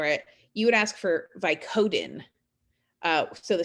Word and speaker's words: Vicodin: have taken vicodin uh we call it vicodin the stress is on the first syllable the vi right um it's a three syllable word vicodin and the stress is on vi now if you were